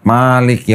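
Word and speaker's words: مالك: Di Indonesia kalau baca Maliki yaumiddin ma panjang. Kalau diterjemahkan apa? Penguasa hari akhir. Di Afrika Utara di Maroko. Kalau baca Malik yaumiddin. Maliknya pendek. Malik artinya apa?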